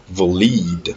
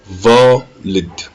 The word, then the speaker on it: valid: Si l'accent est sur le lead, on dirait valid. Mais ce n'est pas le cas. Ici, l'accent est sur le va, on dira valid.